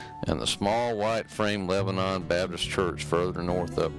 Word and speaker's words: Lebanon: Church actually belonged to the village of Lebanon, pronounced Lebanon, which also dates back to the 1800s.